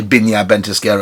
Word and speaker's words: Viñas Ventisquero: and brand ambassador for binya ventiskero i'd have to say binya bentiskera because we're in chile now we'd have to pronounce visas bees um and um my